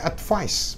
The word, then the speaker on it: advice: Tapi kalau S-nya diganti C, advice, bacanya advice, pakai S, ya.